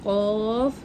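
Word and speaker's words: ق: আলিফ পরিমাণ টান এটা কফ এটা কাফ এটা হচ্ছে একটু মানে ভিতর থেকে ডিপ আওয়াজ বের করতে পারে এটা হালকা করে বলতে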